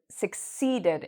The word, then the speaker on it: succeed: Okay, so when you pronounce this word, make sure that you pronounce the seed part loud and long.